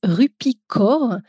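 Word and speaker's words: Rupi Kaur: serait des livres de poésie de la poétesse rupicor ça s'écrit K a ur r C'est une canadienne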